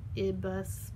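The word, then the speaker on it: -ibus: one then ibis like ibus like you're driving a bus and use like moose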